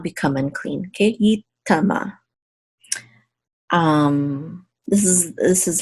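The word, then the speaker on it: יטמא: And this aleph is silent. Yitama. This means he shall not become unclean.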